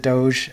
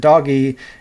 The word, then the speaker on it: DOGE: of Government Efficiency, and I refuse to pronounce it DOGE, the G is a G sound, so I'll pronounce it doggy.